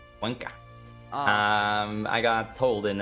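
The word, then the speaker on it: Cuenca: But because Quenza not falling, they are so comfortable sitting here. Yeah. Yeah. France brought back the volunteers from Quensa. And I know actually it's Quanka. Quanka.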